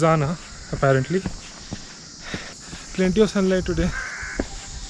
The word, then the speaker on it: Jana: in a place called anna which no locals pronounces zana apparently plenty of sunlight today very less clouds